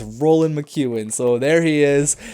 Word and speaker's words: Roland: his name Roland mckuin I was saying Ronald it's not Ronald it's none of that it's Roland mchan I was watching highlights on him it's Roland mchan so there he